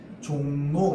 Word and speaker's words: 종로: 그러면 앞말의 받침이 뒤에 나오는 리을에게 영향을 줘서 리을을 뭘로 바꾸느냐? 니은으로 바꿔서 발음하게 합니다. 앞말의 받침이 있죠. 뒤에 리을에게 영향을 줘서 어떻게 바뀌느냐? 담력 이렇게 발음합니다. 종로 이렇게 발음합니다.